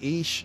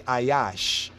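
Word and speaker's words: איש: every man right let every ish you see ish just want to bring that up right there ish it's not ish not ish proper pronunciation the hebrews not ish it is some might say ayash but it's because they really don't really understand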